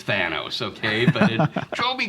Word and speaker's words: Thanos: Well, I found out since it's, based on the Greek myth of Thanatos, and so it's Thanos, okay?